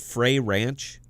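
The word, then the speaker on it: Frey Ranch: down favorite uh apple juice ever is called fray ranch and bell type that in it's f-r-e-y space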